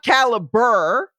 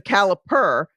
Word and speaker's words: caliper: Because it's not caliber with a B, it's the caliper.